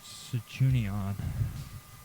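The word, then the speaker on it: Sanchuniathon: the Fenosian theology and Cuni Cenunia is spelled S A N C H U N I A T H O N and then apostrophe S. Okay, which is Sichunion.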